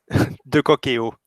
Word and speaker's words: de Cocquéau: ¿Cómo se pronuncia bien tu nombre, para no pronunciarlo de mala manera? ¿Y tu apellido? de Coqueo.